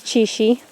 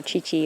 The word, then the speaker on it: Chishi: Her name is Chishi. Chi-Shi. I have to say it like that. But I get it messed up and I call her Chi-Chi all the time, so it really doesn't matter.